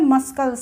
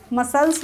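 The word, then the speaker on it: muscle: क्या बोल सकते हैं मस्कल मस्कल नहीं बोलते इसको क्या बोलते हैं मसल्स बोलते हैं ओके नेक्स्ट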